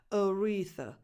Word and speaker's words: Aretha: So you start with a schwa and you end with a schwa. Aretha. So the first and the last vowels are not defined.